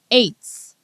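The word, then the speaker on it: עץ: number 6086 it's it's Eights just like you know the way you would pronounce the number eight right it's eights but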